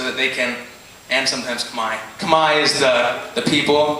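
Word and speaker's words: Khmer: in English so that they can and sometimes Kamai Kamai is the the people group sometimes people know it as K but it's actually pronounced Kamai just so ding you know so um yeah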